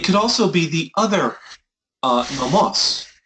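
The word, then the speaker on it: νόμος: It could also be the other nomos. Right? You have nomos with the accent on the penult, right? And you have nomos with the accent on the ultima. The difference in meaning is law and feed.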